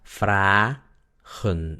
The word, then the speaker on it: fragen: Quiere decir que la primera sílaba termina en A, por lo tanto la A es larga, es abierta la sílaba. Por eso se pronuncia fragen, no fragen.